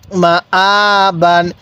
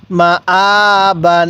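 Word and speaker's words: مَآبًا: খারা জবর আ বা আলিফ দুই জবর বানান মা আবান হ্যাঁ আমার সাথে বলুন মা আবান হ্যাঁ আরেকবার বলুন মা আবান এরকম ভাবে শিখবো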